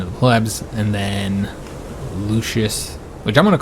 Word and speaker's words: Lucius: the plebs, and then Lucius, which I'm going to call him Lucius for now. I know technically, you know, somebody said that the C is always pronounced with a K sound, you know, with the like Lucius in classical Latin.